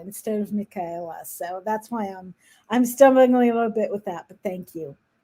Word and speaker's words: Michaela: from I speak Hebrew, so in Hebrew the ch is pronounced differently. So I want to say Michaela instead of Michaela.